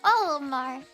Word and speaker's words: Olimar: Yeah, I'm not pronouncing his name correctly. Olimar. Olimar. Olimar.